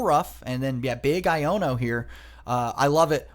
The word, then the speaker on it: Iono: Which also fun fact if you did not know um the card is pronounced iono. You know kind of a little port manto of of I don't know um is not quite Iono but seems to be what everybody's calling it anyway.